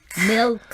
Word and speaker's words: milk: อันนี้จะยากหน่อยนะคะนักศึกษาเพราะเราจะต้อง pronounce เสียง L นะคะ L ก็คือต้องม้วนลิ้นไปที่เพดานนะคะ L แล้วก็เสียง K เพราะฉะนั้นจะต้องเป็น milk นะคะแต่แน่นอนเราคงไม่ออกเสียง K ดังมากนะคะแต่ว่ามันจะต้องได้ยินอยู่บ้างนะคะ right อาจารย์เจwe wouldn't say milk but we say milk you heard it softly.